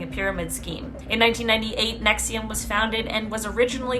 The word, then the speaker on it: NXIVM: front for disgusting crimes, NXIVM, which I believe is pronounced nexium.